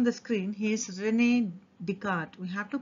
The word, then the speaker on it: Descartes: plane if you observe here his name rene descartes the last word c-a-r-t-e-s but still it's pronounced to be asked rene descartes so from this itself is taken to be